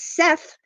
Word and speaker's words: Set: is also speculated as Seth you see it spelled s t but it's pronounce set as in set it on the table um they believe that